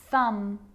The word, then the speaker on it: thumb: It's always silent when it follows the letter M. Climb, crumb, lamb, thumb, dumb, and plumber. So practice them with me. I'm not pronouncing the B, I'm just pronouncing the M consonant sound.